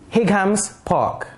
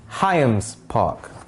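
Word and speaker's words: Highams Park: actually it's called burmanzee some would pronounce this higgham's park but it's hayam's park this is pronounced as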